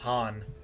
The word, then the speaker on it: Han: Oh, so it's just Han.